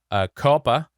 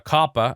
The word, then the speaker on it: COPPA: to new FTC regulation Coppa a Coppa I guess is how it's pronounced and that stands for